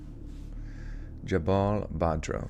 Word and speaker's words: Jabal Badro: How you say Jabal Badro? Jabal Badro. Okay, that's exactly how it's said.